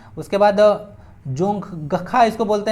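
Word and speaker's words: Dzongkha: देखने को मिलेगा आपको जोंगखा ना, क्या चीज जोंगखा देखने को मिलेगा, डी साइलेंट रहता है ना, याद सकते हैं भूटान।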